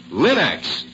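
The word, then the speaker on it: Linx: Remember, Linux is spelled L I N-X. Linux.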